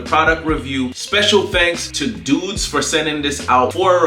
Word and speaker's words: Douxds: branding going there and that is pronounced dudes d-o-u-x-d-s and if their product